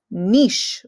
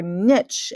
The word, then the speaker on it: niche: its environment this is called its niche or niche and you can go with whatever pronunciation you want niche or niche they're both right a niche is the